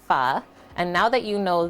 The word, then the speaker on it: pho: It's not pronounced pho. It's pronounced pho.